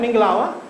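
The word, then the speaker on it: မင်္ဂလာပါ: Minglawa?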